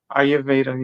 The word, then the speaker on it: Ayurveda: Agnyhotra is a healing fire from the ancient science of and make sure I'm pronouncing this right. Ayurveda. Ayurveda.